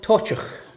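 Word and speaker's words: Toiteach: How did you pronounce it? This is called Tochach.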